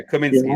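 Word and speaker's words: Kaminski: Yeah, Kaminsky, that's it. Yeah, that's how you pronounce it.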